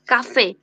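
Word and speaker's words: Kaffee: কাফি বা কাফি কাফি যেমন এখানে কি আছে দুটা দুটা এফ আছে না দুটা ই আছে না তাহলে হচ্ছে আমরা দুটা ফ উচ্চারণ করতে হবে কা হ্যাঁ কাফি মিনস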